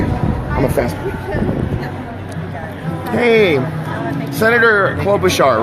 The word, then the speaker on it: Klobuchar: Hey, Senator Klobuchar, right?